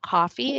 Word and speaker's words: KOFE: So we partner with a nonprofit called Coffee. It's spelled KOFE.